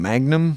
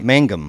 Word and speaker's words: Mangum: Jeff uh how do you say his name Magnum yeah Mangum Mangum yeah he had a dream about Anne